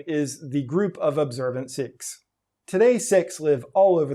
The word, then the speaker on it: Sikh: and by the way i'm saying sikh and sikhism on purpose that is the way that it's actually pronounced in punjabi and the way lots of six prefer it to be pronounced there are 25 million